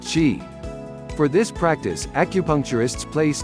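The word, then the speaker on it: Qi: flow of energy is known as Chi pronounced Chi for this practice acupuncturists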